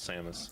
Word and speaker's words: Samus: always thought it was Samus. Same. It is. But how do you pronounce her last name?